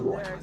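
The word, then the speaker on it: Roi: It goes by the name Roy, but with the extra eyes at the end, I actually just pronounce it as Roy every step of the way.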